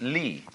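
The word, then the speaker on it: 理: They pronounce it lee.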